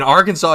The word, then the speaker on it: Arkansas: And there's one that's like more like everyone in Arkansas you have to pronounce Arkansas at Arkansas.